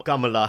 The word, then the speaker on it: Kamala: really happy about Kam Kamala Harr right I actually check the pronunciation based on how she wants to be pronounced apparently it's Kam and everyone's really excited